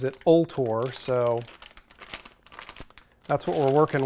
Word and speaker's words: Vltor: which i've talked about this before and i pronounced it bolt or somebody posted a comment on that other video and said that they called the phone number and the recording pronounces it all tore so that's what we're working with go ahead